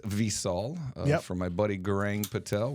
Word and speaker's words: Visol: my beautiful uh new visol or it's actually pronounced visol for my buddy gang Patel where he uh